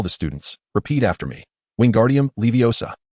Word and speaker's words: Wingardium Leviosa: Repeat after me, "Wingardium leviosa." Pay close attention to elongate the pronunciation of O slightly. Wingardium Leviosa.